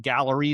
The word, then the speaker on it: Galleri: So there's a company called Gallery. It's spelled Galleri.